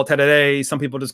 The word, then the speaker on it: tereré: It's called tereré, T-E-R-E-R-E, but it's pronounced tereré.